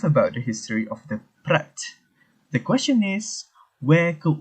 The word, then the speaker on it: Praat: what is spread first of all we might pronounce prague as pratt but actually the correct pronunciation is actually prat